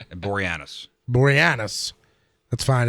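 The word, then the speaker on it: Boreanaz: Uh David Borenus. He is 48. What? Yep. That's not how you pronounce his last name, but that's gold. How do you say it then? Borianis.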